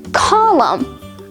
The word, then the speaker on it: column: These words all have a silent letter N because they end in the letters M, N.